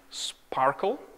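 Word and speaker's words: SPARQL: Okay, so what you are looking at here, this is a query which is written in a language called Sparkle. That's, I think, how you pronounce it.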